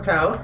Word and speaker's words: Taos: I hope I pronounced that right. Taos.